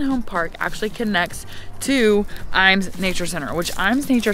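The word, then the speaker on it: Ijams: And it's spelled like I-Jams, but it's actually Iams, that's how you correctly say it.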